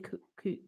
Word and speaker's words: Kuwait: I mean, Kuwait. Kuwait. Kuwait. Is that how you say it? Kuwait. Kuwait. Like you can wait.